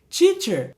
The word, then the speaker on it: teacher: A gente tende a usar o CH quando fala, por exemplo, teacher. Não é tch quando você vê o T, e sim tss. Teacher.